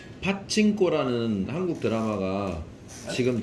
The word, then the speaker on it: 파친코: 파친코라는 한국 드라마가 지금 전 세계 1위거든요. 파친코. 옛날 빠찌코를 영어로 발음한 건데 예.